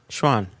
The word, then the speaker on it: Chuan: Schwan. It sounds like Schwan to me. Like Sichuan, right? Yeah, like Sichuan.